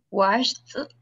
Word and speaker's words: washed: Entonces, los dos sonidos de la CH y la SH no tienen vibración, entonces significa que los dos verbos se van a pronunciar igual al final. ¿Sí? Los dos se van a pronunciar con T, ¿verdad? No con D, sino que los dos se pronuncian con T.